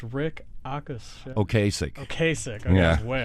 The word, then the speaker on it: Ocasek: And when former Cars vocalist, I'm sorry to say his name is difficult to pronounce, Rick Ocasek. Ocasek.